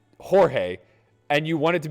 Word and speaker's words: Jorge: a g God damn it you got me j o r g e Jorge you don't get to get upset whenever somebody says Jorge and you want it to be pronounced George chill am I wrong that's George